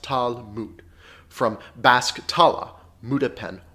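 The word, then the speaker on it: Talmud: speaking examples being entangled was spelled lmd but pronounced tal mood from bask tala muda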